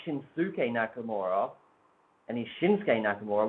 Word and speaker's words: Shinsuke: But if the U is silent in Shinsuke, then why is it not silent in Nakamura?